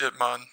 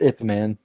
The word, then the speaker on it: Ip Man: It's Ip Man. But anyway, It's Ip Man.